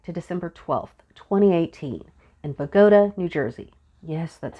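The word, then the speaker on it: Bogota: to go back to December 12th 2018 in bagoda New Jersey yes that's how it's pronounced it was a cold Wednesday night and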